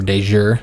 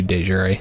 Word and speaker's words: de jure: Jure Territory Counselor task, or de Jure as some people prefer to pronounce it. I believe the Latin way would be de Jure, so that's how I typically pronounce it.